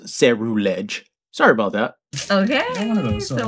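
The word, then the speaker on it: Ceruledge: It's actually pronounced Cerulege.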